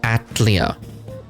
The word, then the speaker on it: Atelier: to lack of space it's pronounced atlia man you always keep